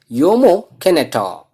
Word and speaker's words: Jomo Kenyatta: Jomo Kenyatta. So here J is there, but we want to pronounce differently. So that is Jomo Kenyatta.